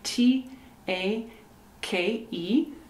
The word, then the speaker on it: take: here is take take t a k e the e is silent so the sound is take take take a screen